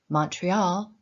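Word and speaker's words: Montréal: in the province include Montreal Quebec and Laval Montreal pronounced in French is the second largest french-speaking city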